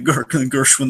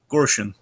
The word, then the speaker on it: Gorshin: He's not the Gershwin that Mark Hamill was. Wait, how do you pronounce it? Gorshin.